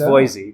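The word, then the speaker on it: Voisey: because there's there's some history there um charlotte voicey is here today on our podcast stage come on in charlotte one of the most beautiful guests of the day oh charlotte was a yes indeed it's pronounced boise but crazy but i like to say thank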